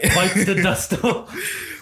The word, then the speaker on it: Bites the Dust: Zadusto. You gotta say it right. Bites the dust.